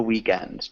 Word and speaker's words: weekend: Is it possible to say Yeah, you could say welcome the weekend. Just remember welcome weekend. weekend? Okay. Mhm. So we do emphasize the first syllable. So it sounds more like weekend than weekend.